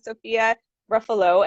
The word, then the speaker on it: Sophia Ruffolo: and i'm really glad and excited to have sophia ruffalo am i pronouncing your name correctly yep that's perfect perfect